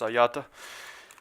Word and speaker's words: Agliata: For the record, Agliata, Agliata, pronounced Ayata.